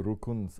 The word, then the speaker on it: rukun: They are the rukuns of Islam.